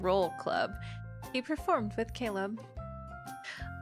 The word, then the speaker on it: Caleb: He performed with Caleb. I'm used to the three syllables and Oh, it's Caleb.